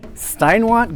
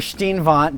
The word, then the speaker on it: Steinwandt: pronouncing your name correctly steinwant Godoy yeah or Steen Vaughn depending on who you're talking to yeah German spell pronunciation versus American so please tell us